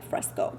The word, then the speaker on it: Fresco: Is it Fresco or yeah, Fresco? That's how you say it.